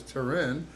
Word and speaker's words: Taryn: And today, my special guest is Taryn De La Rosa. Did I pronounce that right? Taryn? Taryn. Yeah. Taryn, It's Taryn, like, I would Taryn. say like tearing a piece of paper.